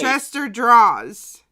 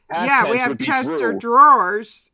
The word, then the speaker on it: Chester Draws: My instinct is to say drawers. Because we have Chester Drawers, but I want to say it like, you know, that you put clothes in, like a dresser drawer, Chester drawer, but it's Chester Draws, and he's at 294.